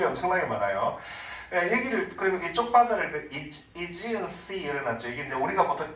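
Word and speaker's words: Aegean Sea: 그리고 이쪽 바다를 이지언 씨를 놨죠. 이게 이제 우리가 보통 에게해라고 하는, 영어로는 발음이 상당히 다른데 이지언 씨 그렇게 말해요.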